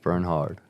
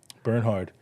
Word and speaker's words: Bernhard: Silent K, silent H, but pronounce the H. Bernhard. Bernhard.